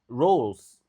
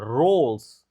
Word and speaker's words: roles: Oke, technical ability will be required for leadership roles. Nah, ini juga susah cara bacanya. Roles. Roles. Oke, R-nya harus bagus.